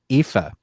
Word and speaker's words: Aoife: It also stars Syrian Hins, and I don't know how to pronounce her name. I think it's Aoife. Aoife.